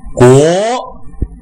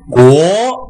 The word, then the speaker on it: 国: 国，对，但是你的起调稍微有点低，因为阳平调我们叫高声调嘛，它是从三到五这个跨度，所以起调的时候要高一点，是国国，不是国